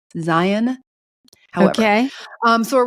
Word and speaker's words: Zion: Now I say Zion. All the locals tell me I say it wrong. It's Zion.